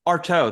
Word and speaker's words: Artaud: it is, but Artaud, that's how you pronounce it.